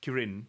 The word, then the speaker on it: Kirin: Kyo is the uh if you're struggling it's pronounced Karen ah Kieran oh it's not cooling it's Kirin okay Chinese beasts one horn see the horn